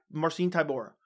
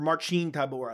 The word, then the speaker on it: Marcin Tybura: could possibly get Tai marcine Tor or Marine Tor I think is actually how you pronounce it and you got